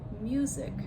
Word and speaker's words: music: So I went from music stress on the first syllable to musician stress on the second syllable.